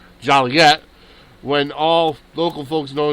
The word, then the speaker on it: Joliet: In Joliet, town fathers reflecting the pet peeve of hearing their town's name mispronounced Joliet when all local folks know it's pronounced Joliet,